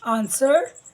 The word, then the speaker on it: answer: Answer, here also W is a silent letter.